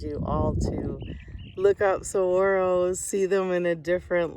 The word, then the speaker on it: saguaro: this is a saguaro s-a-g-u-a-r-o pronounced saguaro the only girl in